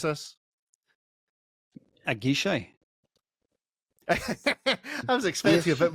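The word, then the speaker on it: à Guichet: Privé tank, Matt, tell us how we pronounce this. A guichet.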